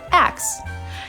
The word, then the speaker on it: ask: Do you say ask or axe? There's been prejudice against axe by those who consider ask to be the standard, but actually axe was the original pronunciation. No, it comes from the old English axion and can be traced back to the 8th century.